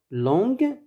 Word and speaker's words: longue: en ajoute le e mais il faut un u pour ne pas prononcer longe en ajouterait u puis le e2 féminin long longue épée épaisse parce que